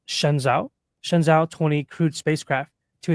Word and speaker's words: Shenzhou: On the 24th of April, China successfully launched the, I think it's pronounced Shenzhou 20 crewed spacecraft to its Tiangong space station on April 24th, 2025.